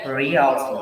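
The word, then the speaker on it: Raoult: w oh my gosh real stolen this is the correct pronunciation real law okay so this is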